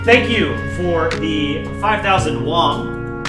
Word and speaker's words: won: Thank you for the 5,000 Wong. Is it W? Wong. Not Wong. All right, it's Juan. 5,000 Korean Juan.